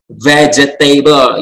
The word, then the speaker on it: vegetable: Katanya sih 3 ya. V ya, bukan V. Vegetable, ya kan? Tapi coba dengarkan apa yang dikatakan oleh kamus Merriam-Webster. Vegetable. Vegetable. See? Only 3 syllables.